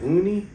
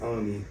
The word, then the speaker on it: Oni: Are you saying Uni? Uni, yes. With an O? Oh, yes. Yeah, I believe it's Oni. Oni? Yeah, That's it's pronounced like that. Yeah. It's Oni, bro.